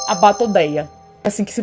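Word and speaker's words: Batoidea: Então vamos para a superordem das arraias, que é a Batodeia, assim que se pronuncia.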